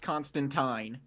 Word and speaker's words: Constantine: Yes, it is pronounced Constantine. I don't care how the movies say it. There are literal comics where he says his name rhymes with turpentine.